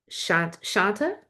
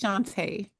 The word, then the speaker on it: Shantae: Shanta, I believe is how you say her name. The journaling, Yes, it's Shantae. Shantae.